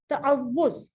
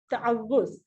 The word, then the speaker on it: تعوذ: تعوذ. تعوذ. ٹھیک ہے, واو کے اوپر تشدید بھی ہے اور پیش بھی ہے. اس کو تعوذ نہیں کہنا ہے, تعوذ.